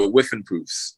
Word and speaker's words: Whiffenpoofs: I don't wanna I don't want to a mispronounce it's called the Yale what can you say the name please Brandon yeah the whiffenproofs with improves yes there we go I didn't